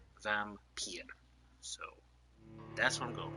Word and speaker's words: Vampyr: And I do believe it is pronounced Vampyr. I looked it up on Google, and that's what it told me. I legitimately put in, how do you pronounce this game? And it said Vampyr.